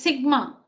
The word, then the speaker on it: sigma: Now this one is read, or this one is pronounced as sigma.